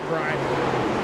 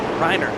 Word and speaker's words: Brenner: I believe we were told last week that it's pronounced Briner. Briner, there we go.